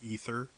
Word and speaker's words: Aether: By the way, I still don't know why they pronounce Aether as ether instead of Aether, which is how I pronounce it, which is the name of my character.